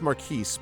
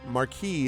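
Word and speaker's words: Marquis: Uh sometimes it's maris but marquee is is also a pronunciation.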